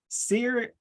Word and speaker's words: Sirui: So this is a Sirui. I believe that's pronounced right.